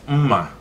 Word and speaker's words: mma: We call it mma.